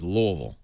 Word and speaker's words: Louisville: to use this bat you got to say it right it's louville I said all right